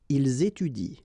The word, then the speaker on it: ils étudient: at the plural form, so and t, well, you don't pronounce it, so you will get ils étudient.